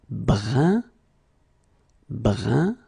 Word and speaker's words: brun: Then another example, brun, brun, okay, fin, brun, fin. So you write it differently, but then you pronounce it like the first one. It's un, un, okay?